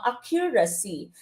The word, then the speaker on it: accuracy: not accuracy okay Filipino accuracy pronunciation accuracy foreign but this should be pronounced as accuracy okay so accuracy the stress is on the first syllable all right so which